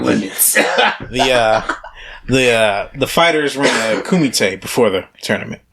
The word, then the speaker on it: kumite: It's if you look it up, it's COOMITE. Kumite.